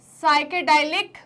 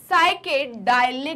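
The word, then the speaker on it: psychedelic: क्या बोलेंगे इनको साइकेड साइके डालि ड्रग्स क्या बोलेंगे साइके डालि ड्रग्स राइट इधर पी साइलेंट है क्या है पी साइलेंट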